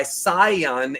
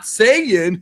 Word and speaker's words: Saiyan: be English or Japanese that's why saion is the right way to say it not Sayan yuck we're in Texas we call him Sayan down here it's Sion but whatever we'll say